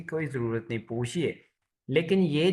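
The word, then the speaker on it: 不客气: मी्स thank you एंड पूछिए पूछ पू नहीं फातिमा आप भूल गई है बी को हम कैसे प्रोनाउंस करें पी से पूछ पूछ शाबाश अब ये देखिए शेष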